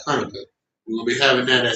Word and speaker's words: Hanukkah: In Hebrew, the Hanukkah, not Hanukkah, but properly pronounced Hanukkah.